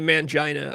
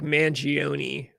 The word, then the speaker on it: Mangione: No, I don't think it's not actually Mangina. I just can't pronounce this. I think it's like Mangione, Luigi Mangione.